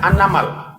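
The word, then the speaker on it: النمل: Anamal itu bacanya surat baca apa nak? An-namal.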